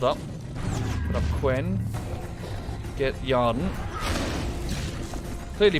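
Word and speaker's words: Yrden: Get Yarden. Clearly pronounced Yarden.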